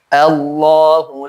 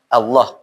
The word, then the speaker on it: الله: Nah, pertama ingat Allah bukan Allah ya. Makanya juga kalau terus dalam bahasa Indonesia pun dia pakai A ya, bukan pakai O.